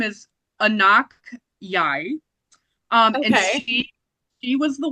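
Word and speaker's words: Anok Yai: I wrote down how to pronounce her name because I didn't know who she was. Her name is Anak Yai.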